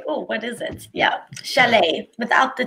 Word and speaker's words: chalet: this word broken oh I see Chalet absolutely yep it's a French word Chalet surely the shallots